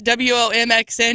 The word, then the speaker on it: WOMXN: So then I look up how to pronounce this WOMXN, and it says it's pronounced exactly like woman.